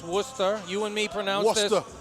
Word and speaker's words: Worcester: with title contention four and three Julio Perez Worcester Massachusetts for anyone who doesn't live in this area not familiar with it it's pronounced Worcester you and me for now we pronounce this